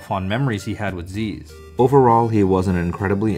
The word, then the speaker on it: Zyzz: his name is pronounced z or sis he actually answered that question himself in a post he stated that my name is aziz z equals however you pronounce the z's minus the a so in before anyone